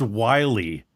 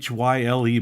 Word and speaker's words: Whyle: Pronounced Wiley, is Josh Wiley from the practice squad. Josh Wiley, I think. Yeah, it looks like Wild, Whyle, but it's pronounced Wiley, is what it says.